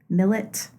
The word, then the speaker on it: Millett: And I'm like, oh, it's Millet.